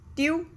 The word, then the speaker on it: tu: Okay, the next singular subject pronoun is tu. Tu. That meaning is you. In English, we have only one way of saying you. But in French, there are two words, tu and vous.